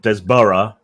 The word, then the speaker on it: Desborough: your name wrong uh Desborough it's like you have you have boroughs in America so you should be able to pronounce it um all right so